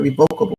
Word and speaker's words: revocable: So it's revocable trust, okay, at any time. So that's how you pronounce that revocable trust.